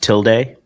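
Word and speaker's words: tilde: The tilda guy. Tilda Swinton. You're so stupid. It's pronounced till day.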